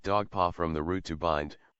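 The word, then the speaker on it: Dugpa: Tibet is deprecated or they themselves pronounce it dog paw from the root to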